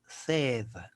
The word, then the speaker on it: said: Y se pronuncia said. Said. Así como cuando tú dices tengo sed. Igualito, said.